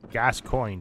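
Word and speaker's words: Gascoigne: the pronunciation like it's gas coin but it's like well g- a s but then c o i g n e it's like the G and E are silent yeah let's spam these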